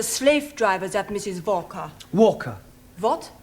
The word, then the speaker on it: Walker: Walker. What? W is pronounced W. Your employer's name is Walker.